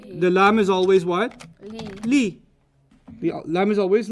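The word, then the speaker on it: لِ: So, the lam is always pronounced li when it's on any ism, and it's pronounced la on most pronouns.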